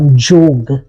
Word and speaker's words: yoga: And the real pronunciation of yoga is jog.